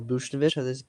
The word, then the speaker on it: Buchnevich: Surprising player was the Pavel Buchnevich. That's how to pronounce his name.